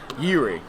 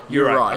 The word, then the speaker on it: Juraj: So we're getting pronunciation tips, because the very British way of saying these names is not necessarily correct. Yuri. Juraj.